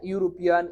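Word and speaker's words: European: হয় তাহলে এন হয় না ইউর মত যদি উচ্চারণ হয় তাহলে এন হয় না হ্যাঁ ইউরোপিয়ান ইউনিভার্সিটি ইউনিক ইউনিভার্সাল হ্যাঁ এরকম যদি ইউর মত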